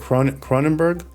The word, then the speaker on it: Cronenberg: Cronenberg?